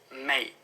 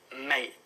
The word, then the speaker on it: mate: And often we don't pronounce the T, so it's mate, mate.